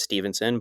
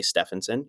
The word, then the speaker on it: Stephenson: a certain way like my last name is Stevenson but it's pronounced s p h n s o n a lot of times people say Stephenson you know if I